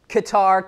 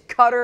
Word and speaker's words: Qatar: know I always am not sure how to pronounce Qatar Qatar Qatar Qatar I never really know Brian is saying it's Qatar Brian I'm going to listen to you I apologize thank you for that correction it is Qatar or